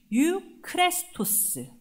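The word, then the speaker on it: εὔχρηστος: 아크리스토스, 무익했던 사람이 유크레스토스, 다르게 발음하면 유크리스토스라고 합니다.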